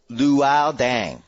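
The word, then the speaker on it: Luol Deng: eight times it is it is pronounced lual dang like Pall lual Pall the wall dang can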